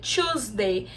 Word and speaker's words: Tuesday: que se escreve também mas o som a pronúncia é a mesma two número dois e choosday se a gente entender e começar a contar